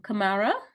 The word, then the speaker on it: Kamara: awesome thank you um Kamara am I pronouncing it right Kamara yes you have um hello everyone good